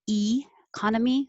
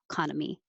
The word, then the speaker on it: economy: And number 7, you'll hear people say both ways, economy or economy. Both are fine. Economy. Economy. As long as you have con as your stressed syllable, the unstressed E can be pronounced correctly with an E or also correctly, but more casually with an economy.